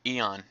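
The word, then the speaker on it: Aeon Flux: Hey, Eon. I said it right. Eon, right? Eon Flux. Yeah, there we go.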